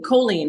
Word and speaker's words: choline: sorry I think it's ch h o choline choline that's what it is c h o l i n e choline is good for when you're pregnant when I